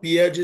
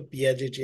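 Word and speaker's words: Piaget: years thank you madam बघा पियाजे जो होता त्याने कॉग्निटिव्ह थेअरी मांडली हा पहिला प्रश्न लक्षात ठेवा कॉग्निटिव्ह थेअरी कोणती आहे कोणाची आहे तर पियाजेची आहे हिंदीमध्ये प्याजे म्हणतात त्याला मराठीमध्ये पियाजे म्हणतात स्पेलिंग बघा पियाजेची काय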